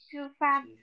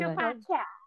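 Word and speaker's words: 吃饭: Chư phan. Thanh bốn nha, phan là thanh bốn nha mọi người. Chư phan. Chư phan.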